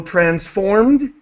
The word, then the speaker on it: transformed: So transformed with a d sound, launched with a t sound.